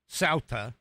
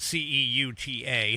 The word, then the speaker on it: Ceuta: That's how it's pronounced. Ceuta. Even though it's spelled c e u t a, Ceuta.